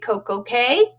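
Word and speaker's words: CocoCay: to perfect day at coke okay because it rhymes should be key but that's okay uh royal says k so we're going to say k uh but yeah so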